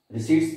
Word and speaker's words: receipt: रिसीट्स से normally आप लोगों को पता चल गया होगा कि जो भी हम पैसा रिसीव करते हैं उसको हम रिसीट बोलते हैं। P साइलेंट है इसमें, रिसीट।